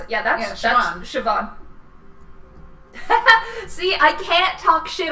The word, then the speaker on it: Siobhan: but people don't know how to pronounce it. Yeah, that's Siobhan.